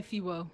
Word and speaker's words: FEWO: I say Fiwo.